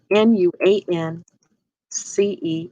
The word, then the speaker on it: nuance: to type in this word new one l n u a n c e n u a n c e n wants